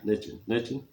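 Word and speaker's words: lechón: But anyway, I eat pork, and we have what's big there is lechon. Yeah. Lechon.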